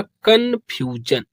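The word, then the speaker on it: confusion: यह हो जाएगा कंफ्यूजन।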